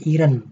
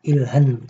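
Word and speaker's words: 일흔: Dan untuk ini juga ya teman-teman 70 itu dibacanya iren bukan ilhen. Karena apa? Karena di pelajaran 8 ketika ee konsonan bertemu dengan hi itu hi-nya dihilangkan atau tidak dibaca.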